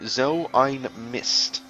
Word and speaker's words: so ein Mist: That is actually a German saying, but in order to pronounce it correctly, you have to say "so ein Mist."